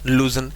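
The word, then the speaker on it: lose: होता, LWS, लूज ना, इसकी प्रोनाउंसिएशन बेटा लूज होती। क्या होती है, लूज। एक ये होता है, इसे बोलते हैं लूज, खो देना।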